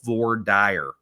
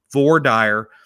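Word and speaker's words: voir dire: It's called vor dire. And I know that there's different pronunciations for it, but it's French for meaning something. I don't remember what it was, but vor dire.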